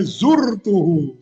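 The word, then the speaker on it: زُرْتُهُ: Nah ya zurtuhu ya dengan domma ya wuhul ya zaroni sodqi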